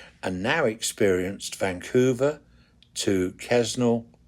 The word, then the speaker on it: Quesnel: now experienced Vancouver to Quesnel. It's not Quesnel. They don't pronounce the S. Quesnel. From Vancouver to Quesnel to Whistler to Jasper.